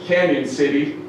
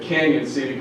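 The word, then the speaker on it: Cañon City: doubt it it's pronounced Canyon City they got that little squiggly over the a alright it's spelled canon city but Canyon City Colorado Elia is kind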